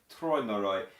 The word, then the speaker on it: Träumerei: By the way, the AU in Traumerei is spoken like Oi in oyster, Träumerei, and it's actually quite correct, you are right, Träumerei.